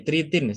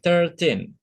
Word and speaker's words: thirteen: yang merasa sama Tri jadi tritin salah ya bukan tritin tapi thirteen ini sama seperti satuannya voucher